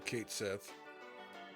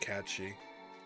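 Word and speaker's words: Cait Sith: And Sang is at least also Kate Sith. Or apparently that's pronounced Katshi.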